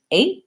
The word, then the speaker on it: eight: with a stop T the thing to watch out for is making sure you do a diphthong on the American a it's a longer sounding well we don't want just a single a it because that will sound to Americans like you're saying the vowel in red so make sure you